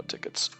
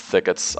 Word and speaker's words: thickets: region AR gun FL tickets on I always say tickets it's thickets I know that but